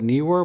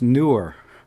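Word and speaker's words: Neewer: newer for example some some people call it knee were but I was corrected by the manufacturer because they've been talking it's actually pronounced newer you know these companies they they have a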